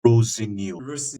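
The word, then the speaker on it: Rosenior: I've read somewhere that he does not like to be pronounced Rosenio. I think it's Rosinio.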